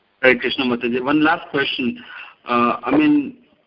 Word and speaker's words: Krishnamurti: that is never ever see it and it's pronounced Krishnamurti one last question I mean there's spiritual practitioner